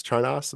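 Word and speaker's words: Charnas: luckerson this one Dill Time by Dan Charis charos that's how you pronounce it so for those music lovers out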